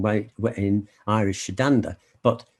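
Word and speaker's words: Sétanta: irish legendary hero kahulum his childhood name was satanta it's pronouncing why in irish shiddanda but it's the same it seems to be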